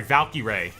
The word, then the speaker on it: Valkyrie: Minecraft movie before sorry valky Ray valky R is how it's pronounced Jack Black being Steve